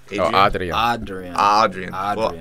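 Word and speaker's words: Adrián: You guys have been saying it wrong the whole time. You like saying the second A. Like the way the first day is supposed to be said. Adrian.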